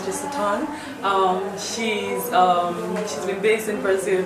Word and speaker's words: Jesuton: So my name is Jesuton. That's how you pronounce it. I've been wondering. Oh yeah, it's Jesuton.